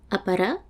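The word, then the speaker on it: ʻāpara: La glottalisation. C'est quelque chose de très particulier dans la langue polynésienne et ça va être signalé par une apostrophe. On va prononcer apara, pomme, afai, porter, apo,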